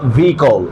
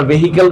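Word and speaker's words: vehicle: break means ডিভাইস স্টপা ভিকল আমরা ভেহিকেল বলি না এটার সঠিক উচ্চারণ কি হবে রাইট ট্রান্সিটিভ ভিকল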